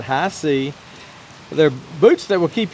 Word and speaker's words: HISEA: the product for you these are high sea boots and yes that's the way you pronounce that high sea they're boots that will